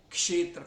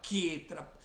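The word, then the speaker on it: क्षेत्र: E o sotaque bengali tem coisas de diferença, por exemplo, não só tem Ramo, às vezes você fala Jnana, na Bengala é falado Gyana, kshetra fala ketra, mesmo a palavra yoga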